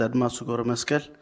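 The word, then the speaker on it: Admasu Gebremaskel: My name is Adma Sugoro Meskel. It's spelled ADMASU.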